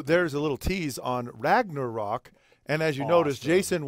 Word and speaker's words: Ragnarok: Don't say Ragnarok like that. It's Ragnarok. You got to say it like a Viking chieftain.